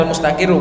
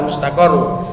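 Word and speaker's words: المستقِرُّ: Bacanya al-mustaqirru bukan al-mustaqarru. Fid dzarfi.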